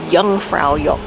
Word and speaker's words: Jungfraujoch: No, J's are pronounced as Y's and W's are pronounced as V's, so Jungfraujoch.